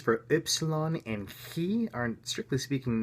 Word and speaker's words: upsilon: The pronunciations for upsilon and chi are, strictly speaking, not used in the English language. Upsilon is like this which can be approximated like rude, and chi, which could be approximated with a hard K.